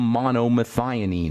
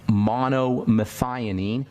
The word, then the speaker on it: monomethionine: picolinate or you'll have you'll have a selenium monomethionine or you'll have magnesium glycinate that's second word